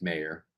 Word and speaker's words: Mayer: great Point Michael Mayer it's not I don't think it's pronounced Michael Myers Meer I think it's mayor I could be wrong baby grank I think